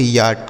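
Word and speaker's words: yacht: इसे पढ़ेंगे याट। क्या पढ़ेंगे? याट मतलब क्या होता है? नाव। याट मतलब नाव होता है। ठीक है? कुछ लोग इसे याच भी पढ़ते हैं। तो आप इसे याच भी पढ़ सकते हैं।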